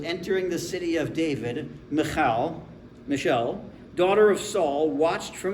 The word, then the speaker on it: Michal: If you're good at Hebrew, you get a lot of phlegm in the back of your throat.